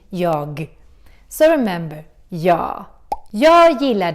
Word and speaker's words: jag: And in Swedish, we have a tendency to drop the G in the end. We don't pronounce it. That's why we say ja instead of saying jag.